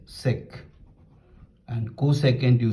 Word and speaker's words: sec: Secant, you say sec.